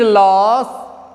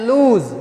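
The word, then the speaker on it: lose: In reality the word लॉस is pronounced as लूज।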